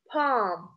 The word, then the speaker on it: palm: Palm, palm, we write L, but we don't pronounce it.